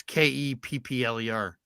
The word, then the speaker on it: Kepler: It's Keppler.